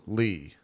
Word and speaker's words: Lea: Leah pronounced Lee.